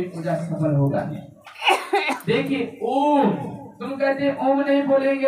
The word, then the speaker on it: ओम: ओम है, आ जोर मो जोर ऊ, तो ओम हो जाता है।